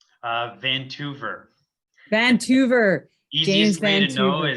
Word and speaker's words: Toever: Toever. Vancouver. Easiest James way Vancouver. to know is it rhymes with Vancouver.